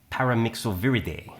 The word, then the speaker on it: Paramyxoviridae: paramyxoviridae. Exactly. That's how you have to pronounce it.